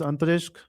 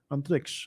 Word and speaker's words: Antariksh: Second is Antarishk. Third is it Antarishk or Antariksh? Antariksh. I'm pronouncing it wrong.